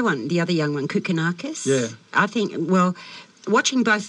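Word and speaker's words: Kokkinakis: Am I pronouncing it incorrectly? Is it Close enough. Kokonakis.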